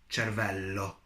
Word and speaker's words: cervello: Then we have cervello, cervello. Notice that L, L. So it means there are two L's.